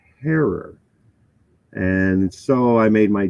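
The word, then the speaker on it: Herer: I was taught the name is hey it's pronounced Terror like Terror not Jack Herrera so Jack Herrera is not the proper way to recognize one of cannabis's Godfathers his last name is pronounced heror and so I made my Jack hair a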